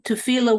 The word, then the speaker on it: tefillah: Okay, but you wouldn't in Hebrew tefillah wouldn't be written with a tes? No, it comes from that word, but it isn't that word. So tifla, it's an intentional mispronunciation of tefillah.